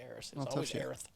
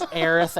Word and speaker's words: Aerith: it for to be heirs welcome to america look in the mirror you said it wrong but her name is aerith according to the creators